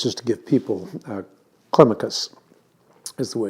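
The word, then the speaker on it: Climacus: uh jungle meckers just to give people uh clemicus is the way it's typically pronounced um he he lived um for 80 years he died in 603.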